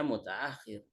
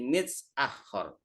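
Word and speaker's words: متأخر: Asalnya bacanya mutaakhir. Kalau di sini mutaakhir berubah menjadi mitsakhor.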